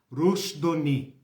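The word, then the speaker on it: Rushdoony: Isso escreve Rush, R-U-S-H, D-O-O-N-Y, Do-O-Ni. Se pronuncia Rousas Rushdoni, tá? D-O-O-N-Y. Rushdoni, tá?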